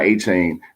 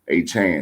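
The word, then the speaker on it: Achane: Devon A-Chain did his thing, though. A-Chan, let me pronounce his name correctly, man.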